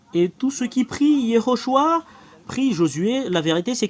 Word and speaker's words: Yehoshua: vous de voir mais la vraie prononciation du nom de Josué c'est Yehoshua quelle est la raison